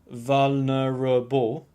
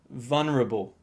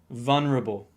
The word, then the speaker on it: vulnerable: stress to each syllable the third syllable is very weak so don't pronounce it vulnerable pronounce it like vulnerable vulnerable honey it's okay to